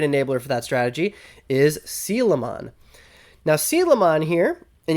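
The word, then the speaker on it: Coelamon: don't know this uh Digimon is based off of the real life coelacanth um it is an ancient fish um I heard a lot of people pronouncing it koelamon uh maybe that's the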